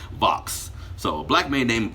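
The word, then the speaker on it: Vauhxx: A black man named, it's a weird spelling name, V-A-U-H-X-S. No, V-A-U-H-X-X. Yes, that's how his name is spelled. Vox.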